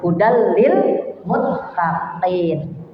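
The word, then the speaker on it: هُدًى لِّلْمُتَّقِينَ: Tanwin bertemu dengan lam, ya, idgham. Ya, jadi masuk tuh hudal, jadi bukan hudal, tapi hudal. Lamnya masuk. Jadi kalau kita mau wasal, hudal lil muttaqin.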